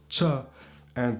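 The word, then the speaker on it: qen: The ch is a Q in English, but in Albanian, it's a ch.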